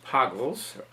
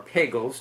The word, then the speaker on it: Pagels: the name of Heinz Pagels, or Pagels, depending on how you want to pronounce it, who was a physicist.